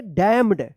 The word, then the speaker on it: damn: DAMN क्या पढ़ेंगे डैम पढ़ेंगे डैम, यहाँ पे भी एन क्या है साइलेंट रहेगा। तो इस तरह से जो